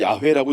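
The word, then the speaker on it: יהוה: 이게 야회라고 읽는데 이게 글자 하나하나의 의미가 있는 거거든요.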